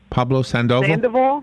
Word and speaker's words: Sandoval: sandoval how do you say his name pablo pablo sandoval sandoval thank you the third baseman for the